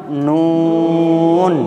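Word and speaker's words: نون: ব্যাস, তাহলে দেখেন এই অক্ষরটা উচ্চারণ করতে গেলে জিভের আগা অপর দাঁতের গোড়ায় লেগে জিভটা ফিরে আসবে, আবার লাগবে, উচ্চারণটাকে লম্বা করতে হবে। যেমন নুন নুন নুন নুন নুন।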